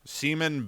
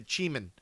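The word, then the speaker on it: Ximen: It's a it's a seaman bao. No, no, it's it's it's a it's a chiman. Nice. Uh because uh um X-Men. Yeah, it's it's a chiman. It's spelled X-Men but with an I.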